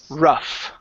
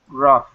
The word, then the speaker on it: rough: O Okay so but in this word the the GH is actually an F sound this word is pronounced ruff ruff rough just like that so uh the waves